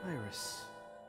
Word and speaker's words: Iris: up with the name you pronounced the iris german way iris yeah i really like